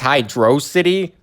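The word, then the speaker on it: Hydrocity: Everyone knows it's pronounced Hydro. I did read in a post once that Yuji Naka stated that he thinks it's Hydro City, but I can't find the post anymore, so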